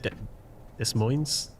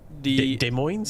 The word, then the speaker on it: Des Moines: Is it Des Moines? I need to learn before the big stream, you know? Des Moines? The S's are silent, I think. But I'm not sure. Des Moines, I think.